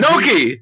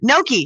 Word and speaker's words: gnocchi: How do you say that? Gnocchi. Gnocchi. Pretend the G doesn't exist.